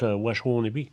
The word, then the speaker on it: Waswanipi: Puis le Waswanipi, on prononce Washwanipi.